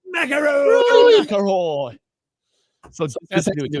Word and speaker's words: McIlroy: Rory McIlroy. McIlroy.